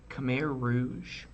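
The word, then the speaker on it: Khmer Rouge: called I might be pronouncing this wrong the Rouge let me check that pronunciation hot's genocidal Rouge regime recently documents were discovered all right Cham Rouge the CH Rouge regime was a brutal regime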